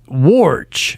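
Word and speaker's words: Woj: the name is spelled WJ correct but it's pronounced warge is it it is Adrian wowski it's not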